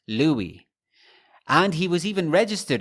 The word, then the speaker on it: Louis: of the name itself personally he preferred that his name be pronounced Louie and he was even registered as Louie spelt le wi e for the 1920 u.s.